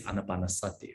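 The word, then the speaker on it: ānāpānasati: Okay, now the last one is the anapanasati. Anapanasati. I think, many months ago, right? We also studied this anapanasati, right?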